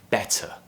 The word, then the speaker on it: better: So a flap is, if we take a word like better, better, I'm pronouncing that T very, very clearly, right? Better. Now, in other accents, which might be considered to be less RP sounding, you would hear better, where the T is